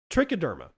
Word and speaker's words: trichoderma: Trichoderma or trichoderma, depending on how you want to pronounce it.